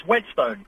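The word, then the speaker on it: Whetstone: of it frck SAU yes hi no it's wetstone north London oh right how do you spell it w t St oh right okay wetstone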